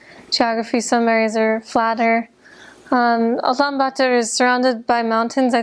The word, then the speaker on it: Ulaanbaatar: I was only in the capital city, which is in Mongolian pronounced Ulaanbaatar, and I was there because I had to teach English there at a university, so I taught only in the city.